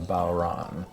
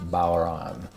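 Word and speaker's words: bodhrán: a really fascinating percussion instrument today called a bauran it fools a lot of people because it's spelled b-o-d-h-r-a-n you'll probably have seen that in the title of this youtube video but it's pronounced baueron and it's an old instrument that arguably has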